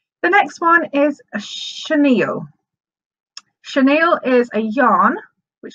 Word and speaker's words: chenille: way I can describe it really nice but chenille is spelt CH e n I double le and you will come across this if you ever wondered what it's called okay that's called chenille the next one I struggled with it was